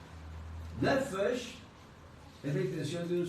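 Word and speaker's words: נפש: Nefesh, ¿cómo se escribe nefesh? N-E-P-H-E-S-H. de nuevo. N-E-P-H-E-S-H. Nefesh. Se pronuncia Nefesh. Como si PH fuera una F.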